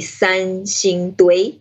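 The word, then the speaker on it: Sanxingdui: that the chinese name is pretty hard to pronounce it's called the sun shin tui it's quite tricky so how to be translated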